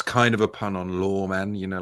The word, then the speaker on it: Loremen: It's it's it's the podcast is called Lawman, which is spelled reviewed unboxing. Um, law men. L O R E M E N. L O R E M E N. Law men, like folk law.